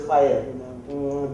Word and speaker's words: FHIR: XL7 is very active, so they have a new standard called pronounced as FHIR.